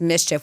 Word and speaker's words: MSCHF: assuming yeah um and it's a company that's pronounced Mischief we've heard of them before mschf I think